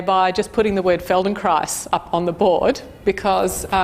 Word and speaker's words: Feldenkrais: PhD in physics so Feldenkrais it's hard to pronounce - oops rhymes with rice so that's how you spell it and that so the Feldenkrais method is backed based on the life work of dr.